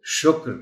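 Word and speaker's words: شُکر: عام گفتگو میں، تو اس کو ہم شکر نہیں پڑھ سکتے، اس کو شکر پڑھنا چاہیے، درست تلفظ یہی ہے۔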